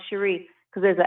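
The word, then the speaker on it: Sheri: h e r i like Jerry but it's pronounced Shere because there's an accent over the eye we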